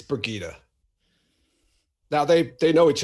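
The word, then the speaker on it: Birgitte: it is bergita right I used to call it Burgett for the longest time that's my old uh early uh Wheel of Time reading coming out that's what I that's how I initially pronounced her name burget so bergita sorry everybody B her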